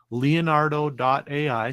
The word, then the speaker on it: Leonardo.ai: So that is Leonardo.ai. So it's Leonardo, Leonardo.ai, just like Leonardo da Vinci. Basically, Leonardo da Vinci, it's spelled Leonardo.ai.